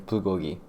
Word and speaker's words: bulgogi: For the Korean appetizer, we're preparing bulgogi.